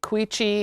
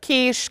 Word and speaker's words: quiche: ordering and pronouncing things people sometimes say cuicci instead of quiche cuz they don't know like they're reading it phonetically so or like my